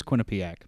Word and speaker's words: Quinnipiac: York so you both are correct it is Quinnipiac okay I just didn't know how to pronounce it Quin uh yep it's the Bobcats